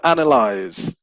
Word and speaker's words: analyze: So the initial stress is on the first syllable.